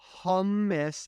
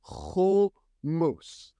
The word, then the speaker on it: hummus: It's not humus. And I know Adam has a whole rant about this, but we're not going to go into it. I just want to clarify if you are pronouncing it hummus the hummus and hummus are completely different things. Okay, it is hummus.